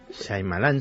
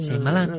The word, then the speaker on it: Shyamalan: ¿cómo se pronuncia? Shyamalan, el director. Shyamalan, sí. Shyamalan.